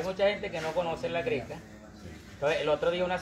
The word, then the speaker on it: La Grecca: Que mi apellido se pronuncia así, la greca, separado y con doble C.